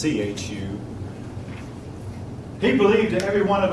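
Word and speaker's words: Zhu: that's by the way spelled Z hu or pronounced Chu he believed every one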